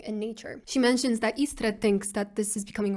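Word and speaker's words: Istredd: She mentions that Istred thinks that this is becoming a rule. Istred, or how English speakers usually pronounce it, Istred, the mention of him really annoys Geralt.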